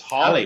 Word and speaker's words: Halley: So, you know, Well, Haley's Comet. It's Halley. Holly, like Yeah, Holly, I think, or something like that, isn't it? Edmund Halley.